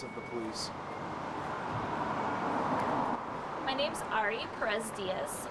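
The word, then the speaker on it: Ari Perez Diez: My name's Ari Perez Diaz. It's spelled A-R-I-P-E-R-E-Z-D-I-E-Z.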